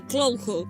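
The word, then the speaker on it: Cthulhu: de los restos fosilizados de la entidad ficticia de cloo creada por el escritor hp lovecraft y si antes de que lo digan Esta es la forma más cercana en que los humanos podemos pronunciar su nombre los científicos que descubrieron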